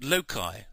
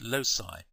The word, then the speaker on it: loci: we're going to be looking at locai or as a sometimes pronounced Losi it is the plural